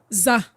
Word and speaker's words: za: This second symbol is pronounced za. Z-A-H.